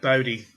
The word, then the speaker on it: Bodie: It is pronounced Bodhi, isn't it Aaron?